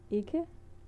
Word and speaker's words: ikke: Du vil gerne ikke. Like you go up, ikke. Du vil gerne ikke. Yeah, when you say it, when you pronounce it, you usually don't pronounce the last e and k in ikke.